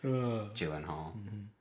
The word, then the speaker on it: Gyllenhaal: Pronouncing names correctly. Gyllenhaal.